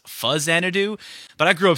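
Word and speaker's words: Faxanadu: Pokemon now we're keeping things going with a fax anido and yes I know it's actually pronounced fuzz anido but I grew up saying fax anido so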